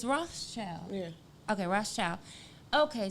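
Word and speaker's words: Rothschild: is it am i saying it right it's roth's child yeah okay ross child okay so you know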